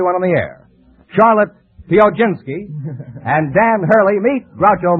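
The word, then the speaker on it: Piechocinski: Charlotte, how do you pronounce your name? Pioginski. Would you mind spelling it? P-I-E-C-H-O-C-I-N-S-K-I. Now pronounce it again. Pioginski.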